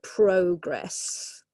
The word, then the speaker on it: progress: a noun progress or it can be a verb to progress actually the stress changes okay gradual progress fast progress